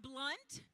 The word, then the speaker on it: Blount: more candy the teacher it's pronounced blunt even though it's spelled Blount that was really mean